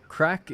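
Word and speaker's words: craic: So crack is spelled C R A I C.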